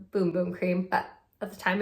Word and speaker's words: Bum Bum: bum cream and yes I know it is pronounced boom boom cream but at the time I didn't know that and I don't know bum bum cream just sounds so much better considering how